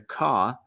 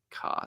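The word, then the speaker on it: Qah: Some ancient Hrud, known as the Ka, may possess even greater powers, capable of wielding time warping abilities on a massive scale. And that's spelled Q-A-H, the Ka.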